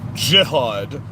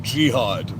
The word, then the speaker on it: jihad: The way you pronounce these words, it's Hezbollah, Hezbollah, and it's jihad, J-I, not jihad.